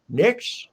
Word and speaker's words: Knicks: Liberty, but they're the Knicks. Is it? Is a K is silent, right?